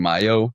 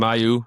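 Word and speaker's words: Mailloux: Yeah, I think Mayu. Yeah, I think you said it right. Uh ladies and gentlemen, is spelled M A I L L O U X just in case anyone wants to fact check me on that.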